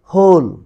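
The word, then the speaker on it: whole: এখানে একটা জিনিস খেয়াল করো, WH এর পরে যদি ও থাকে, WH এর পরে ও থাকলে ওই ক্ষেত্রে H এর উচ্চারণ হবে, W সাইলেন্ট থাকবে, তাহলে হয় এখানে এখানে ওল না হয়ে হবে হোল।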